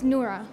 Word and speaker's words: Nora: If I pronounced your name right, is it Nora? It's Nora.